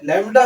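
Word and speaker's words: lambda: लडा ऐसे लिखते हैं ये बी साइलेंट है ऐसे लगता है लडा बी साइलेंट है लडा है ल आप इसमें वैल्यूज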